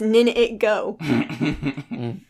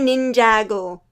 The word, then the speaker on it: Ninjago: The graphic design's fantastic except for the title, and I keep on reading it as Nin It Go. Oh, those are supposed to be words? It's supposed to be Ninjago.